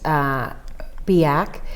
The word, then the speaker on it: BIAC: Some other broader resources, there's the Brain Injury Alliance of Colorado, pronounced BIAC, and they have a very informative website.